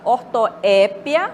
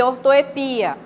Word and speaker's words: ortoépia: temos aí por exemplo a palavra ortoépia Observe que o Wesley está acentuado né e ortoepia Ou seja eu posso falar com acento tônico Noé ou no i né na última sílaba aí né acrobata ou